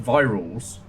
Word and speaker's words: Varials: Varials pronounced Virals. Virals, because of the eyes. Who was a good friend and indie game crafter. And I spent months, years, saying their username wrong, which is a specialty of mine.